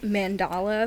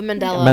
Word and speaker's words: Mandela: There's so many, but I have been really stuck on like mandala effects. Mandala? Oh, the Mandela. Mandela? Yes. Mandala. However you pronounce The it.